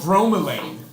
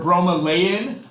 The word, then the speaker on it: bromelain: is an enzyme called bromelain or bro Malayan I've heard it pronounced both ways I call it bromelain anyways there's an enzyme